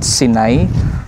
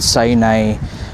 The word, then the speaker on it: Sinai: So mga casters, ang kumpleto na address or location dito mga casters no, is Mount Sinay or they preferably pronounce it as Mount Sinai.